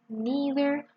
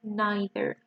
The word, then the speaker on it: neither: So you can pronounce it as E, either, neither, or as an I, either, neither. Both of them are fine.